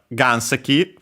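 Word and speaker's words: 岩石: in Japanese we have ganseki first and foremost a Chinese compound which means a rock and actually uses well okay the accent is on the first mora which is the second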